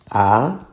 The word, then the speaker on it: anunciar: Fíjate que el ritmo de la palabra va a anunciar. No va a anunciar, ni va a anunciar. Va a anunciar. So, obviamente, ciar es la sílaba tónica.